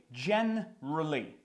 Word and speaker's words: generally: Basic basically далі generally generally знов таки вилітає generally і ми читаємо просто gen р l generally generally generally та favorite